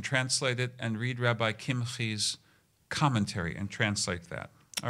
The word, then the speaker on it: Kimhi: Commentary was written in the 1200s by Rabbi David Kimhi. Uh, it's spelled like kimchi, but he was not a food item. It's Kim. David Kim.